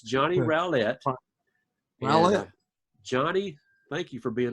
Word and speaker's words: Rowlett: that right you did say good job Rowlett you know a lot of people get my name wrong too uh it's I get called